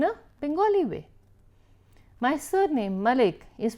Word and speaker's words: Malik: And then they'll still say, oh Madam Malik, and I'm like, no, not a double L.